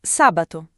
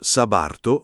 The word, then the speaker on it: sabato: Sabato. Sabatto. Attenzione alla T. Non sabato, ma sabato. Morbida.